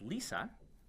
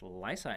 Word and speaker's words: LISA: laser interferometer space observatory whose acronym is Li si universally pronounced as Lisa but I would argue it should be pronounced Lisa in this case lisa consists of three